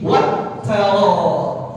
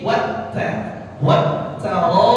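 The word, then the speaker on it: التَّرَائِبِ: Nih juga banyak orang salah baca begini. Yakhruju min bainis sulbi wat tara. Dibacanya wat ta. Mestinya wat taraib. Ya, mestinya wat taraib. Ya, wat taraib ohnya dibaca 4 harokat karena mad wajib muttasil.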